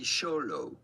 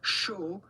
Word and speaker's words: Xolo: We are looking at how to pronounce Xolo. The X at the beginning is to be pronounced like CH.